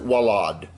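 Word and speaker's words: ולד: word for child is vad and as I said some people might pronounce it wallad with a w the next one is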